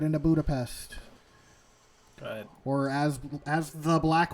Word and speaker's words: Budapest: By the way, Budapest. It's Hungarian, Budapest.